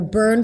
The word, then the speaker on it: burn: But the pronunciation of the word burn, you actually want to shift from the B to the R immediately.